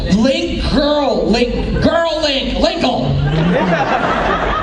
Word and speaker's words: Linkle: Linkle. As in rhymes with tinkle?